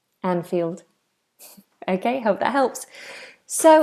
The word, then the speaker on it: Anfield: who already knows um which is the correct pronunciation of the stadium anfield anfield anfield okay hope that helps so it's a game